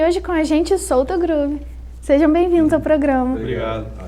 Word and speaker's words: Soultogroove: E é assim que pronuncia mesmo Solto Groove, não Solto Groove? Cara, quando a gente escolheu esse nome, a gente justamente pensou no lance abrasileirado do Solto Groove, mas escrevendo Solto Groove, que significa alma para entalhar.